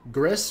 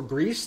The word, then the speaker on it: Gris: long so um yeah Griss or Greece depending on who you ask for the correct pronunciation will be our very